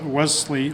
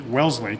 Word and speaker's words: Wellesley: today but she will be attending well sit Wesley Wellesley College they know how to pronounce it Wellesley College in the fall where